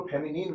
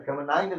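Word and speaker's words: feminine: तो देखिए इसको फेमिनिन बोलते हैं। फेमिनाइन नहीं बोलते हैं।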